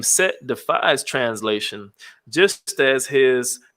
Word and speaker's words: Set: The hieroglyphic representing the word for Set can be pronounced in various ways, depending on the area of Egypt and the relevant dynasty. Variations such as Seta, Sut, Seth, and of course Set have been put forward as alternatives.